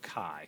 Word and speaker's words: chi: looks kind of like an x it's pronounced chi if we spelled it out it'd be c-h-i where the c-h is making the sound chi chi squared so what you do here's the